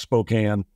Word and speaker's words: Spokane: But then I got up here and learned, first of all, it's pronounced Spokane.